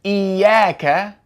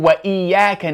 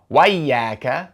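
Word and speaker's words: إياك: So, the word iyyaka begins with a cutting hamza. You're always going to pronounce that hamza. We say iyyaka na'budu wa iyyaka nasta'in.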